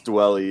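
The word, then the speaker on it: Dwelley: pick up ross dooley willie how do you pronounce his last name dw ross dwelling yeah dwelling if you can pick up ross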